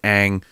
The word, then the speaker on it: Aang: Like, I was sitting there like this, and to go Ong, and I go Ang.